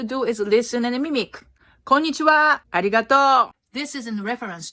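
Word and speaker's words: こんにちは: this one one word konnichiwa which means hello in Japanese no Japanese person puts an accent or knee like many Americans say Konnichiwa Japanese language sound pretty flat most of the time unless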